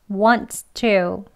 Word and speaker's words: wants to: 으 하는 것이 아니고요 살짝 공기가 새어나갈 수 있는 공간을 만들어 두신 상태에서 발음을 편하게 하시면 되겠습니다 한글 표기로 발음 정리해 드릴게요가 익숙하니까요 원으로 하겠습니다 Once to 이렇게 그대로 발음 기요